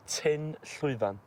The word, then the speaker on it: Tyn Llwyfan: It's called Tyn Llwyfan. Tyn Llwyfan. Tyn Llwyfan. Tyn Llwyfan. Llwyfan. Llwyfan. Llwyfan. There's a lot of talking through your teeth in Welsh.